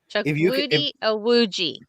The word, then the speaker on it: Chukwudi Iwuji: Chuck Woody Iwuji. If you can pronounce sumo names, you can pronounce this name.